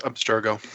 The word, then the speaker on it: Abstergo: Abstergo. Is that how you pronounce that? I don't know. Abstergo? Oh, is that what they're... is that how you yes, Abstergo.